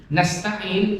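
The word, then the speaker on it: نستعين: Kanasnya sudah mulai oleng nih. Konos, jadi konos. Jadi kanastain semuanya apa? Meringis. Jadi semuanya tipis. Kanastain, jangan sampai jadi konos.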